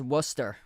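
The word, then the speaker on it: Worcester: Um so, that's pronounced as Wooster.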